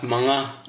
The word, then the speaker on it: mga: you mention just now it's actually pronounced as mga in tagalog or mga ah mangga pala ang tamang bigkasindi Hindi.